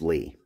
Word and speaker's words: Lie: And before I do that, I want to say, I know this is pronounced Lee.